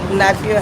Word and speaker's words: Nykia: Nykia. Spell it for me.